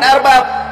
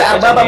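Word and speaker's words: أربابًا: Harusnya dibaca arbabam. Karena di situ Anda sendiri sudah, Anda sudah membacakan itu dibacanya arbabam bukan arbab.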